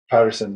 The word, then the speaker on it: Pettersson: trying to text you what's your last name Patterson that's good well I wanted to say it